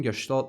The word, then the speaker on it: gestalt: The fact that I'm pronouncing gestalt right is insane.